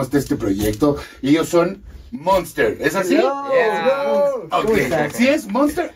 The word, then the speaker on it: Moonst3r: que decir cómo está este proyecto ellos son Monster es así si es Monster o Monster Monster Okay si es muy porque sí se respeta